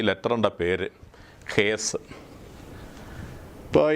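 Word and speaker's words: Heth: അതിൻ്റെ പേരിതാണ് HTH, ഹേത്ത് എന്ന് എഴുതിയിരിക്കുന്നു. പക്ഷെ നമ്മൾ പ്രൊനൗൺസ് ചെയ്യുന്ന THന് സ് എന്ന ഉച്ചാരണമാണ് ഈസ്റ്റ് സിറിയക്കിൽ വരുന്നത്. അതുകൊണ്ട് ഹേസ് എന്ന് ഉച്ചരിക്കുകയത് ഹേസ് എന്ന് ഉച്ചരിക്കുന്നു.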